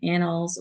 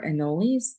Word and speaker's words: anole: The first one that most gardeners are very aware of are the green anoles or anoles. Both of those pronunciations are correct.